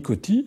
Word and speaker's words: Coty: Et le deuxième président, c'est René Coty. Ça s'écrit C-O-T-Y.